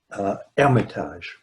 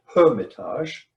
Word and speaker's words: Hermitage: 1481 they moved to hermitage in english i guess we would call it hermitage but the french call it with the silent h and the chauvet family